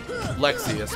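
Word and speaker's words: Lexaeus: But Latius, yeah, Lexius, but yeah. or Lexius, Latius. But I say Latius because of how Marluxia is pronounced.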